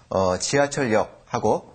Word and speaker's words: 지하철역: 지하철역하고 어떻게 이 두 단어입니다. 지하철역은요. 발음할 때 지하철역 이렇게 발음하시면 되고요.